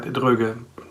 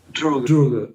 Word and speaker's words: Droege: Okay, and how's the actual pronunciation? You were pretty right, Droege. Droege, okay.